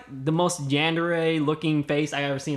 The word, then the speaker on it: yandere: Yandere, am I not saying it right? No, you got it.